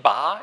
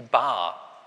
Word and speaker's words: Bar: Ich habe die jetzt standardkonform ausgesprochen, also nicht Bar, ich gehe in die Bar, ja, einfach nur langes A, sondern die Bar.